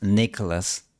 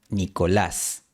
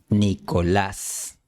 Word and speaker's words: Nicolás: En primer lugar, no es Nicholas, sino Nicolás. El acento no va en la primera sílaba, sino en la última. Trata de gritar un poco la última sílaba.